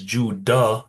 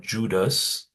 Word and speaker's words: Judah: as I always say his name is Judah not Judas um and so on